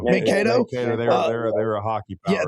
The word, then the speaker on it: Mankato: Mankato. Mankato.